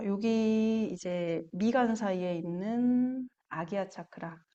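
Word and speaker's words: आज्ञा: 자, 여기 이제 미간 사이에 있는 아기야 차크라, 아즈나라고도 읽고 아기야라고도 읽어요. 인도 지역에 따라서 읽는 발음이 다르대요.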